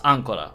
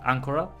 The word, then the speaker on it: Ancora: No, it's Ancora, right? Because it's the accent is on A, Ancora, has asked me to...